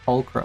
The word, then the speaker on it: Pulcra: It's Pulcra. Pulcra. Okay, that's how you say it.